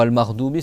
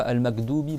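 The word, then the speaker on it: المغضوب: ma classe et ben il prononçait le R ga parce que en fait en phonétique on on l'écrit GH et il y en a ils vont le prononcer comme un G en fait. Donc ou comme un R. D'accord. Donc c'est pas par exemple pour Al Mardoui, c'est pas Al Mdoubi par exemple et el alamine.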